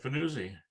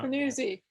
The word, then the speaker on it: Fanuzzi: Is that how you pronounce that? That's right, Fanuzzi. Yeah. Fanuzzi.